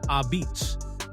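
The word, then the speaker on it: apizza: But in New Haven, you don't call it pizza. It's a pizza. Pronounced ah-beets. If you say it wrong on Wooster Street, the locals will correct you instantly.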